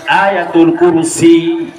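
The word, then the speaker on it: آية الكرسي: বাঙালিরা কয় আয়াত আল কুরসি মূলত বিশুদ্ধ এক্সাক্ট প্রোনাউন্সিয়েশন আয়াতুল কুরসি যদি কোন বান্দা আয়াতুল কুরসি কি পারেননি আপনারা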